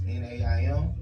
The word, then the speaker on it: Naim: Yeah, that's like all you gotta remember is like when you want to say Naim, you gonna Naim in it. Now we aiming.